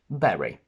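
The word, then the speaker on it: bury: interesting to see that b u r y and b e double r y are pronounced exactly the same berry it's very important to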